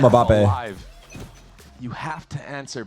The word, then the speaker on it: Mbappe: And for crew, if you want, it's pronounced Mbappe. In New York, we call him Mbappe.